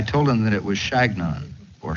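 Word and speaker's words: Chagnon: my name i told them that it was shagnon or shanyon but they couldn't pronounce it it sounded to them like their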